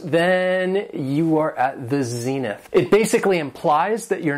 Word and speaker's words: zenith: Has two syllables and the stress is on the first syllable, zenith.